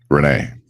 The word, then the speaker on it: Rene: and afternoon good morning so just to be sure am i pronouncing your name correctly perfectly actually renee fantastic renee so welcome